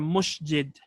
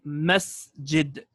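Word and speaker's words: مسجد: is not a message it okay or a Masjid rather it's a Masjid okay with a scene a place for sujood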